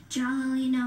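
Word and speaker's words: giallolino: Jollino.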